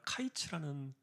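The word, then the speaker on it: קַיִץ: 말씀드렸던 것처럼이 언어적인 유인인데 여름 과일이라는 단어가 카이츠라는 그런 발음이었고 끝이라는 단어는 캐츠라는 단어였어요.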